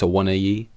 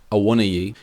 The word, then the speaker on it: Awoniyi: I always in my head pronounced it as Awoniyi, but there is a little sneaky extra I in there, so maybe it's Awoniyi.